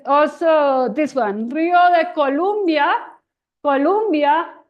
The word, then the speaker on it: Colombia: Adiós, río de Colombia, que tus márgenes pasamos, tus vastas fuentes miramos de aquellas olas que zumban. So the only way to make it rhyme is to say Colombia.